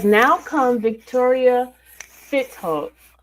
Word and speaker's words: Fitzhugh: It says, "Now come Victoria Fitz Hug, right?" Fitz Hug, right? How do you say your name? It's Fitz Hug. Fitz Hug.